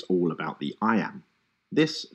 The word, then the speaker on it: iamb: and kill the envious moon notice how the iams cut across both punctuation and word separation meter